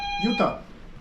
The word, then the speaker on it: Utah: Utah. That's two syllables. That's two syllables. Utah. Utah. Utah. Utah are two syllables.